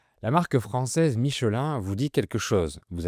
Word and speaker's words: Michelin: On dit “Michelin”, donc on ne prononce pas le N final. Le ‘I’ et le ‘N’ forment la voyelle nasale “in”, comme “un, deux, trois, etc.” Ce n’est pas Micheline, c’est Michelin.